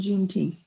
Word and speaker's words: Juneteenth: Well, now one of the questions that I heard, as a white person, how should I participate in Juneteenth? Teeth. How do you pronounce it?